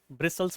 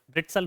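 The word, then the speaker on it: bristles: वैसे अगर जैसा लिखा है वैसा प्रोनाउंस करो तो ब्रिट्सल होगा, तो पढ़ने को अलग मिलेगा, तो ब्रिसल्स होते हैं, जैसे मैं कहूँ ब्रिट्सल्स हैं, तो ये ब्रिसल होता है।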